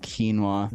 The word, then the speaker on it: quinoa: I'm like yeah you're talking about this it's pronounced quinoa damn what is quinoa is it like a